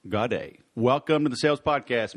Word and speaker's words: Gaudet: To the uneducated, I have Gaudet II on the phone, but my listeners are educated, so the proper pronunciation is Gaudet.